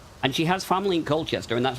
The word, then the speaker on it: Colchester: But yes, there's one in Colchester. Oh, there is one in Colchester. You have to say it like local. Okay. I'm sorry. Cowchester.